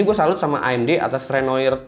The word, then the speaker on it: Renoir: Di sini gue salut sama AMD atas Renoir 7 nanometer mereka. Gue sebenarnya agak bingung sih, ini pelafalannya itu Renoir atau Renoa, karena katanya Renoa sebenarnya.